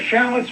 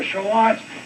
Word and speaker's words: shallot: people grow are chalant sometimes they're called shallots but either shallots or shalots it's a mild onion